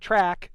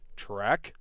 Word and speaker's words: Trek: Trek. Not track. I know. I got flack last episode for that. Sorry guys. Trek.